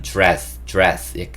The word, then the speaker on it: dress: dress 이게 이제 드레스인데, 제가 써놓기는 dress shirt라고 써놨는데 발음할 때 사실 D와 R이 만나면 지읒 소리를 내요. 그래서 미국 사람들은, 원어민들은 dress 약간 이렇게 지읒 소리를 냅니다.